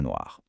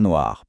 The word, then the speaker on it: noirs: Un chat noir devient donc des chat noirs. Mais le point crucial, c'est que ce S à l'oral, il est invisible. Il s'écrit mais on ne l'entend pas. On dit des chat noirs, pas des chat noir s.